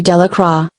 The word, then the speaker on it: Delacroix: and harry jones and dickie delacroix the villagers pronounced this name de la croix eventually made a great